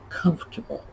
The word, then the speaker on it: comfortable: to bowl um we we throw sort of half an r in there again word that's been